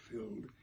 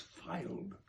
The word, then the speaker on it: filed: mispronounced that last word it's not filled it's filed my tongue-tied muse in